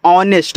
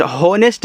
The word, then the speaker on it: honest: HONEST, तो इसको पढ़ते हैं ऑनेस्ट। हॉनेस्ट नहीं पढ़ना है, ऑनेस्ट पढ़ना है, क्योंकि यहाँ जो यच होता है ये आपका साइलेंट होता है।